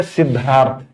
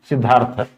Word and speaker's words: सिद्धार्थ: तो सिद्धार्थ में देखने में ध आधा द पूरा है बट उच्चारण में द आधा ध पूरा है। सिद्धार्थ, द को आधा कर दिया ध ने और ध पूरा हो गया।